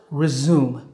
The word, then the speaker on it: resume: And it's pronounced resume. Resume, like when you zoom your camera lens.